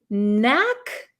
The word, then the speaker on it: knack: this is have a knack for for something have a knack for something so you'll notice there is a k here but this K is silent we do not pronounce this K okay so it's the